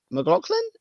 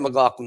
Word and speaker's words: McLaughlin: I've got both Javonte and McLaughlin. Is that how you say it? McLaughlin, yeah.